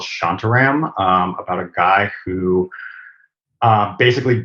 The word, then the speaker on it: Shantaram: Shantaram.